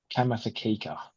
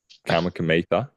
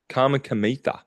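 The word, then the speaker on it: Kamikamica: Kamikamitha. Yeah, there you go. It's so weird because that K is silent, and I know it's silent, but I'm saying it when I'm looking at it.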